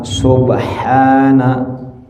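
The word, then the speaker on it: سبحان: Bacanya bagaimana? Subhana ya, sin ba ha na, subhana ya, subhana. Jadi di ha-nya panjang ya. Jadi ada sin, ada ba, ada ha, kemudian alif, subhana.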